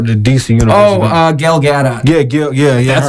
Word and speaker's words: Gal Gadot: __ ] tomorrow dc you know oh uh gal gadot yeah yeah yeah that's how you pronounce it yeah there we go she's yeah